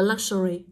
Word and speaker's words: luxury: cho cô này tô đọc là Luxury chưa lu là một âm show là âm thứ hai và re âm thứ ba dịch ba âm đ giờ âm Tiết đầu do đó với câu